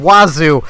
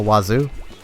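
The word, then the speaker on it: oiseau: It's freaking wazoo, but it's not spelt like wazoo. I know it's not exactly how you say it, but it's full of so many letters, and you pronounce precisely none of them.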